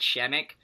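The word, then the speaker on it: Przemek: say his first name it starts with a be but you say it like SH emek so he's a baller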